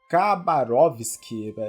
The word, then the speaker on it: Khabarovsk: Os soviéticos chegaram a criar um tribunal que o nome é Khabarovsk, numa pronúncia portuguesada.